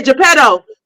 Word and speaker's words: Geppetto: Oh, Geppetto. Geppetto. Am I saying it right? Yeah, Geppetto.